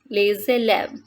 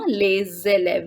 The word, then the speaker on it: les élèves: Les élèves, the students, here we are doing liaison, les élèves. We are not saying les élèves, but the pronunciation is les élèves.